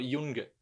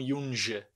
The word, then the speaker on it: Junge: Eu pronuncio G, eu falo Junga, não Junge, tá? Junga. Ok? Isso é importante. O som do G, sempre G.